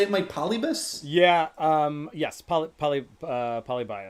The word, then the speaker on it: Polybius: Polybius. Bias? Polybius.